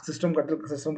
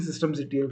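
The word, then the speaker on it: systemctl: फिर सिस्टम ctl के through, sorry मेरे को सिस्टम कटल जो पढ़ूंगा मतलब प्रोनाउंसिएशन में आता है, तो बेसिकली सिस्टम ctl कहते हैं इसको।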